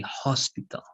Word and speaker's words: hospital: In this case, sometimes we pronounce the H, right? And you would say hospital because it's correct, hospital.